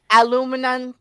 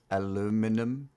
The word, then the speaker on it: aluminum: that's that is wait it could be both because people aluminum uh in America we commonly will say aluminum aluminum mm-hmm or aluminum I listen if I